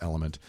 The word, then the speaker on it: LMNT: tell you about element it's lmnt it's pronounced element and it's formulated to